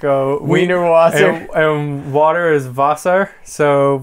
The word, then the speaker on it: Wiener Wasser: And like the water fountain is like a Wiener Wasser, and water is Wasser, so but it's spelled with W, so it looks like Wiener Washer.